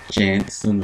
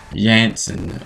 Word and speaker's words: Jansen: and was replaced by Floor Jansen, or Jansen, how it's pronounced. You know, the J's are pronounced as Y's in European countries.